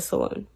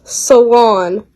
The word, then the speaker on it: salon: in the loo and many showcases in the saloon salon it's pronounced salon the ray this was one of chardon's first